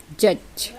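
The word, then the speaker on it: judge: Next है आपका जी से पहले डी आ जावे तो डी साइलेंट हो जाता है। तो आप देखेंगे जैसे कि GUDGE, इसको हम क्या पढ़ेंगे, जज, तो इसमें डी का उच्चारण हुआ क्या, नहीं हुआ।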